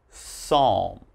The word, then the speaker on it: psalm: So all right, if you ever see these words in something you're reading, just remember there's a silent P when the word begins with P and is followed by a consonant.